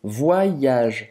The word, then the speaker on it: voyage: Aqui, esse Y, você vai fazer um I longo. Voyage.